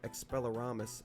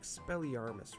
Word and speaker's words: Expelliarmus: is just crazy his second ability here is expelloramus expelliarmus right expelliarmus i'm not a wizard or british